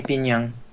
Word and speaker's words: Pinyang: And then it says to you, please call me Pinyang. Pinyang. Wait. How do you spell it?